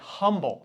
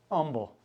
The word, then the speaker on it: Humble: See, when you're from Chicago, you say humble. That's how you would pronounce that word. Don't mispronounce Houston also. Yeah. Or someone does up there. Yeah. So no H's down here. Humble.